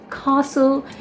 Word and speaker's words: castle: So this is called, or this is pronounced as castle, where the sound of A is very predominant in this word.